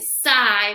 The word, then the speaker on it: sigh: sound s and then this IG makes the I sound s i s i s remember you can always break it up into into groups right of how to sound it out and sigh means like do we